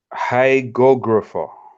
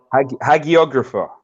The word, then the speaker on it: hagiographer: So I found a word called hygographer. Gographer. Hygographer. Let me see how you pronounce that one. What is that? Hagiographer, a writer of the lives of saints.